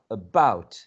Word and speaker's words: about: Is the word about or about? Is the stress in the first syllable or in the second syllable? So in this case, yes, in this case, the stress is in the second syllable, right? Second.